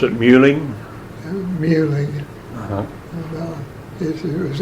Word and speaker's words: Meehling: visited some of those folks it was they pronounce it muing muing uh-huh it was m u HL i